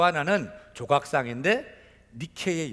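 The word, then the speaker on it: Nike: 색깔 4 나이키 뜻이 무엇인지 아십니까 나이키 헬라어로 니케 라고 하는 그리스에 승리의 여신 을 영어로 발음하면 나이키의 요나 이렇게 우리가 프랑스 루브르박물관 해가며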